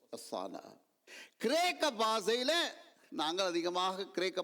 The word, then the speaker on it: osanna: Latin பாஷையில் ஒசானா, OSANNA, not HO, ஒசானா.